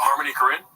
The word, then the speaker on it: Harmony Korine: Oh, Harmony Korine?